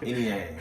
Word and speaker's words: Eniang: So it's pronounced Eniang.